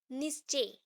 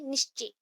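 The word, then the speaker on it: Nietzsche: Next और तीन है, that is Frederick नित्जे, that is नित्जे, ठीक है। यहाँ पे ZCHE है, तो CHE का उतना प्रोनाउंसिएशन नहीं होगा, ई प्रोनाउंसिएशन होगा, इसलिए निश्चे, निच जे, ठीक है, निट्जे, फ्रेडरिक निट्जे।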